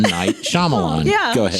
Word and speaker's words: Shyamalan: Night Shyamalan. Yeah, go ahead. Shyamalan.